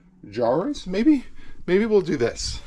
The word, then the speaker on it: Kanan Jarrus: Kanan Jarrus.